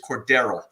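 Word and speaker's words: Cordarrelle: going to win and i believe the official a pronunciation of mr patterson is cordero so uh they kept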